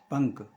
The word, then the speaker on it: पंख: अच्छी समझ में आएगी जैसे पंख है पंख तो का के आगे और का के ऊपर अनुसार है तो का के ऊपर